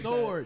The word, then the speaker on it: sword: But yeah, why are you pronouncing the W like sword? That? It's sword. It's sword, dog. Sword. That's what we say in church.